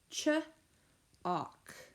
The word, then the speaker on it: chalk: Our 8th word is chalk. Ch-awk. Ch, consonant digraph, awk. And A-L-K is the phonogram, and it is pronounced awk.